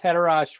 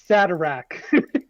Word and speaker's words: Haderach: The Kwisatz Haderach was the prophesied savior that they thought that the whole series is about.